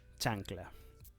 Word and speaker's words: chancla: this which is ch you will have to pronounce it as tch which is cha cha cha for example or maybe